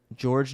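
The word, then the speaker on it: Georges: matisse thaible daniel house george niang and montrez harrell side note two guys in that have silent letters in their name fun fact um george's niang is how it's spelt and then montrezl harold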